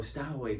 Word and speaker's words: Stowe: So I don't think it's pronounced Stowaway. I think it's Stowe.